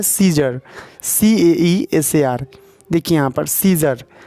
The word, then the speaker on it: Caesar: देखिए यहाँ पर सीजर, तो यहाँ पे ए से तो आ होता है। ठीक है, आ होता है तो यहाँ सियाजर होना चाहिए या सियाजर, लेकिन सीजर इसको बोल रहे हैं। ए यहाँ पे साइलेंट हो गया।